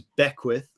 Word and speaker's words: Beckwith: So my last name is Beckwith, Beckwith.